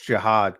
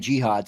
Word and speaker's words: Jihaad: I got, by the way, it's Jihaad Campbell. So, yeah, it's Jihaad, right? Somebody corrected me. I was saying Jihad. Somebody said, yeah. Well, everybody says because it's spelled Jihad. Right. It's Jihaad.